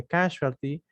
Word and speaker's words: casualty: Sí, la pronunciación es con she. Casualty.